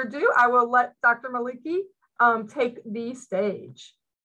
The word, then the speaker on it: Maliki: speaker it is Dr sohaila Malika did I pronounce that right Dr sahila it's Maliki Maliki sorry about that um but thank you so